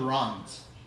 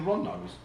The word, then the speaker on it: Rondos: Do you know whatever happened to the Rons? The who? The Rons. Am I pronouncing it right? Rondes. Rons? You mean the Rondos?